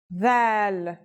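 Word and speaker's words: ذال: This letter's pronunciation is a voiced sound, the, as in this or that. It's pronounced with the tongue between the upper and the lower teeth.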